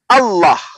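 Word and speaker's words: الله: h itu rujukan dari alif lam lam ha Allah dengan tanda tasydid maka dia dibaca tebal Allah justru yang saya pertanyakan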